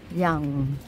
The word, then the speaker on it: Yonge: yung Snow nayang tayo tingnan niyo yung spelling ng yang yonge bagong dating kami ritong tao ang basa namin diyan yun pala ang pronunciation is yang nadudulas ako eh nakakulay